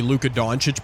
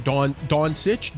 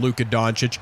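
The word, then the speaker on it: Luka Dončić: I remember it took me a while to figure out how to say Luca Donuch back in the day two, but that's cuz people were pronouncing it differently.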